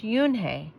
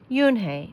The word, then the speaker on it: Unhei: is he asked with his eyes open wide oon hey looked quickly at mr kim then turned to joey she nodded slowly yes it's pronounced yunhei it means and it means grace mr kim added yoon hey joey said slowly and this time perfectly it